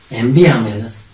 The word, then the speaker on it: envíamelas: ¿Cómo sería acá? Envíamelas. ¿Dónde lleva tilde? Enví. ¿Por qué? Porque lleva mayor fuerza de voz.